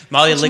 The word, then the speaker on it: Licklider: Is it Molly Licklider? Is that how you pronounce it? Molly Licklider.